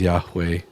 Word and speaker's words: Yahweh: Crazily enough, on the Jehovah's W Jehovah's Witness website, they actually admit in one of their articles that the correct pronunciation is Yahweh.